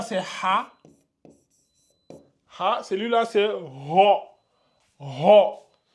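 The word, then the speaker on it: ر: ha ha celui-là c'est ro ro souvent quand les élèves comprennent pas je rajoute un o ici vraiment c'est ro c'est ro ro vous gardez bien la bouche comme ça ro ro c'est Ro et ça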